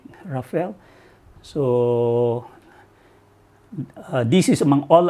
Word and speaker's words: Rafale: So ejaan ni Rafale, tapi kalau kita eja macam Rafale tapi we call it Rafale.